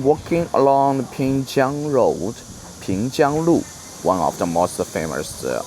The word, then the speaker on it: Pingjiang Lu: Today I'm walking along the Pingjiang Road, Pingjiang Lu, one of the most famous old streets in Suzhou.